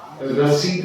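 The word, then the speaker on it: receipt: से लोग रि पता है ये रिसी रि रसीद नाम सुनते हैं हा कोई चीज खरीदते हैं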